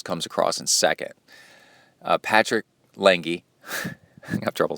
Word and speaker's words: Lange: And he said that Patrick Lange, and that's how you have to say it, Lange, that's how you say it.